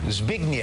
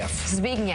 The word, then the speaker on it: Zbigniew: The W should be an F. They spelled it wrong on your book. Zbigniew. Zbigniew.